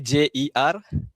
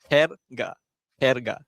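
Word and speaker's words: jerga: Contoh perkataan dia J E R G A J E R G A Okey Her ga J E R Okey so J E R bukan jer.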